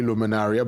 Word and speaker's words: Luminaria: Luminaria um I guess luminaria luminaria but it's really luminaria based on correct pronunciation it's Latin you said uh Dr.